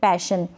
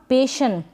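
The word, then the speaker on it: passion: तो आप लिख देंगे पैशन प बन गया पै और ये जो ए है ना पेशन ऐसे नहीं पढ़ेंगे इसको पेशन नहीं गलत उच्चारण होगा पैशन फिर ये है मिशन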